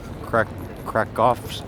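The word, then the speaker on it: Kraków: into the Galleria Krakow crack crack offs OPSEC Oh crack crack off ska you pronounce the W like a V so you'll see it's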